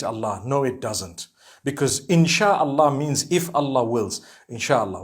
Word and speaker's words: Insha'Allah: Inshi means to create. No one says Inshi Allah. They say Insha'Allah.